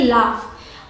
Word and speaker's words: laugh: अगला है LAUGH, इसे प्रोनाउंस करेंगे लाफ। अब स्पेलिंग बिल्कुल अलग है, LAUGH, GH है यहाँ पे लेकिन प्रोनाउंस करते हैं लाफ। इसका मतलब होता है हंसना। ऐसे स्पेलिंग्स आपको याद ही करनी पड़ेंगी, LAUGH लाफ, ROUGH रफ।